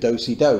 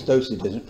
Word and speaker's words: docetism: Second is Docetism. Druga rzecz to jest docetyzm. Well, it sounds like dancing, doesn't it? Do-si-do, but it isn't. It's docetism. Okay.